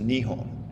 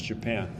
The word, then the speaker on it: Nihon: It grows its borders and it changes its name to Nihon which in the west we mispronounce with a J as Japan.